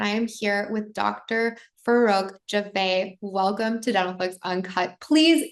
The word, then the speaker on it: Farokh Jiveh: Farokh Jiveh. Welcome to Dentalflix Uncut. Please introduce yourself to our Oh, audience. I love that pronunciation.